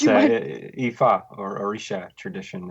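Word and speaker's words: Ifá: I'm sure you noticed I very carefully avoided attempting the pronunciation of the African tradition you were initiated in. Would Sure. you mind? It's Ifa or Orisha tradition.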